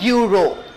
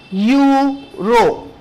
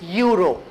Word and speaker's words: euro: You pronounce it like euro, right? You pronounce it like Y-O-U. It's not EU, it is euro.